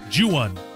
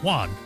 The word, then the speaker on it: Juan: know I keep trying I keep default into saying Juwan but that's not how you say it's one Juan corrida and Matt and